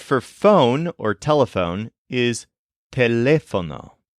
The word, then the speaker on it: teléfono: The word for phone or telephone is teléfono. It's pronounced a lot like telephone in English, but make sure to stress the second syllable, lef.